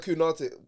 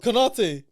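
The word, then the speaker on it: Konaté: Or him and Kunate. Why you call him Kunate? What's wrong with you, bro? How do you say that? Konate. It's K-O-N.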